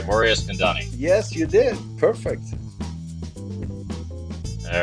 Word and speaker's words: Eskandani: well-known poker producers and president of Poker go Mor Isani did I pronounce that right morus kandani yes you did Perfect all right because I